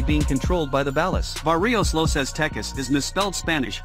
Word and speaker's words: barrio: However, this is probably misspelled on purpose, as in Mexican and Chicano Spanish dialects the sound of B and V are basically pronounced the same way.